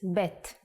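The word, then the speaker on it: בית: The second character is bet. The sound of bet is B. And it looks like this.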